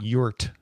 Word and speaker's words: EURT: I do want to pronounce it yurt, the E-U-R-T.